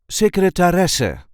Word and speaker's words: secretaresse: see how to pronounce secretaresse, or in English, secretary. This is the way we say secretaresse. Secretaresse. There is a light emphasis on the fourth syllable.